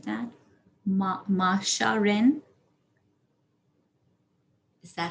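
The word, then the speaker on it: Majsha: to call out your date just like that masha rin is that how you say your name m-a-j-s-h-a i'm sorry could you repeat that major major okay naja ren is that how you say it or am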